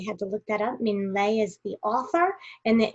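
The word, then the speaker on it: Minh Lê: can see the book i also had to look up how to say his name um ming lei is how you say it so i thought that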